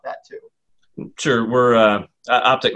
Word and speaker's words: OPTK: too sure we're uh optic networks is how you pronounce that we uh we went with the the different spelling to to set us apart but optic is a little easier to pronounce we're a fiber-based communications